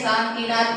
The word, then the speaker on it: शांतिनाथ: शांतिनाथ को शांतनाथ, आदिनाथ को आदिनाथ, ऐसे क्या कर लेते हैं? शांतिनाथ भगवान को शांतनाथ बोल देते हैं, आदिनाथ भगवान को क्या बोल देते हैं?